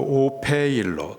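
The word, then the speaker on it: ὀφείλω: 마땅하다, 헬라식 발음으로 오페일로, 그 뜻은 빚지다, 의무가 있다입니다.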